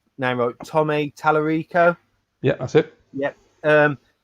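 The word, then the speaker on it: Tallarico: the amigo is he um i want to pronounce his name wrote tommy talarico yeah that's it yep um he's really putting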